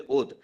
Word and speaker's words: Awadh: province, Awadh, my lord, why should we say Awadh, my lord? The Britishers were unable to pronounce, therefore they used to say Awadh. It's Awadh, my lord, as our